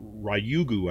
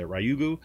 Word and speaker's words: Ryugu: um to this um asteroid called ryugu i think is how you say ryugu um and it was